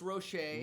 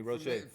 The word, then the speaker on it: Rocher: This is the Ferrero Rocher milk chocolate and almond. I don't know where you can find it. Wherever they sell Mr. Ferrero and Miss Rocher. Rocher, pardon me, Rocher.